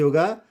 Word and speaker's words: who: Now next, if word begins with WH, अगर WH से होगा तो कई जगह क्या होगा, W साइलेंट होगा।